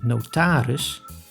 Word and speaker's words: notaris: In two specific situations, the I is pronounced as when the word has an unstressed ending on I plus G, like in smerig, which means dirty, and I plus S, like in notaris, which means notary.